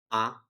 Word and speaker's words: 啊: the model particle ah is used at the end of declarative sentence it is pronounced in neutral tone and it doesn't have